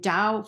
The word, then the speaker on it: Tao: Dost box breathing and Dao for some reason is spelled Tao have no idea why but it's pronounced with a d who knows probably a